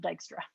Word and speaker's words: Dijkstra: algorithm that's also fine Step One is knowing that it's spelled with a J and that you pronounce this word dijkstra all right so let's